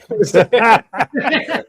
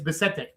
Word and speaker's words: Bissette: Say his last name, Jason. Say it. Bissette. Yeah, it gets pronounced several different ways. Yeah. French. He's French, and it's Bissette.